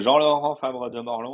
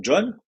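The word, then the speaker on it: Jean-Laurent Fabre de Morlhon: Donc, moi, je m'appelle Jean-Laurent Fabre de Morlon. En fait, mon vrai nom, c'est ça. Autant dire que pour un Américain, c'est absolument imprononçable. Dès la première syllabe, ils vont dire John. Et John, ça m'énerve un peu parce que j'ai pas envie qu'on m'appelle John.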